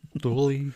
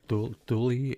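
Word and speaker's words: Thule: Duly I I can't pronounce their name. Douly Air Force Base.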